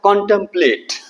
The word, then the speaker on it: contemplate: अच्छा उसके बाद आया था कॉन्टेम्पलेट।